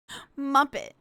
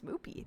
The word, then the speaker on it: Moopy: Muppet. No, not Muppet. Is Sho Moopy named Muppy or should we call her the lesser Souy? Neither. My name is Moopy.